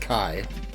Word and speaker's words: K41: I believe that's pronounced Kai. Like elite speak.